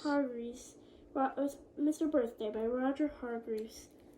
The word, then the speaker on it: Hargreaves: Man by Roger, how do you pronounce that word? Hargreaves. Hargreaves.